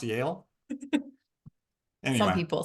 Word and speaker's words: Yale: Also, the other one that you mentioned, I thought that was pronounced y'all. So it's pronounced Yale.